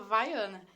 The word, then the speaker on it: Viana: Se escreve Viana o nome dela, mas se fala Vaiana.